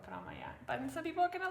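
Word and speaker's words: promaja: I think this is like, again, 3 syllables, promaya. It's not promaya, but promaya.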